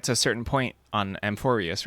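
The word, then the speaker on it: Amphoreus: Amphorius. That's how to pronounce it, not Amphorus.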